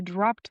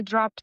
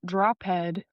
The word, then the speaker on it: dropped: And remember that this word drop, we're going to pronounce it with the ed pronunciation, the voiceless ed pronunciation. So instead of saying drop head, it's dropped in the past.